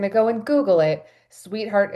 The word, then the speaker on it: Suiteheart: And if you're going to go and Google it, sweetheart is spelled like a suite that you stay in. So, s ui t e. I had to think about that for a minute. sweetheart.